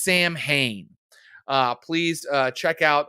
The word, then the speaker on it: Samhain: the horns of samhain some people say it's pronounced sawwin no it's samhain uh please uh check out uh that episode